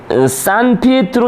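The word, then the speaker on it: San Pietro: 그래서 율리우스는 산 피에트로 대성당, 이게 그 이탈리아식으로 발음한 거고, 아까 말한 그 성 베드로 성당입니다.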